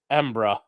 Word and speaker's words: Edinburgh: He says people from Edinburgh call it Embra.